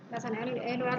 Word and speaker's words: Euler: Lintasan Euler ini atau Euler bacanya ya.